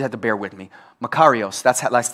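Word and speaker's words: μακάριος: Makarios, that's like the pronunciation of it.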